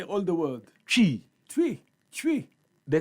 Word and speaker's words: Twi: E, E, chi. Say again. E. No, say all the word. Chi. Tree. Tree. The T is silent.